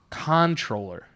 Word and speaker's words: comptroller: it what is it Conte roller - he and it spelled Co MP t ro ll ER is there a definition what the is a cop patroller it says this is a really tricky one because the pronunciation looks phonetic however it's anything but just imagine that when you're speaking